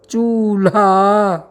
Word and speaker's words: चूल्हा: चूल्हा। जी हां, शब्द का उच्चारण करते ही निश्चित रूप से यहां पर आधा ल का आभास होता है।